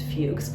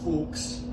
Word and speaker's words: Fuks: He runs into an acquaintance of his name is Fugs. I think that's how you pronounce it. Fuks. Fuks. F U KS. Okay. Fuks. So he runs into a gentleman that he knows named Fuks.